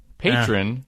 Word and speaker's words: Patreon: that love the show quick pronunciation tip Patron is equal to patreon NOS yeah now see